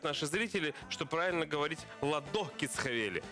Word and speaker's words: Ладо: Нам сообщают наши зрители, что правильно говорить «ладо кисхавели». А вот ладо и нет. «Ладо кисхавели». Посмотрите, пожалуйста, вот сюда. «Кисхавели». Ладо. Ладо. На букву А ударение в имени этого человека.